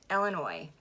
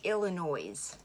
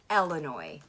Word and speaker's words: Illinois: The first thing I want to talk about is that the S is silent. Don't say Illinois.